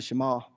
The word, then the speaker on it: Shema: We call it the Shema, but it's the Israelites or the Jews, actually pronounced the Shema.